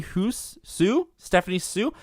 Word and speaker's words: Hsu: I had the HSU in my head, and I couldn't remember what her first name was, and I didn't really remember how to pronounce it, so I think it's Stephanie Sue.